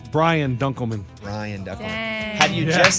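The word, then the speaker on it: Brian Dunkleman: Ryan dunan incorrect lunch Ryan it's rhymes with Ryan it's Brian dunman Ryan dck had you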